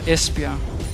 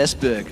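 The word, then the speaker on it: Esbjerg: your beautiful beloved Denmark ah espia there you go ESP yeah it was actually one is that how you pronounced it I I said ESB I do es there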